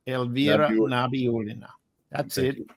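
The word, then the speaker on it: Nabiullina: Let's pronounce it. It's Nabi Pina. Nabiolina Ela Nabiolina.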